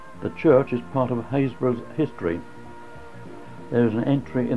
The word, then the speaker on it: Happisburgh: as you can see hayesboro not pronounced as it's spelled there are many towns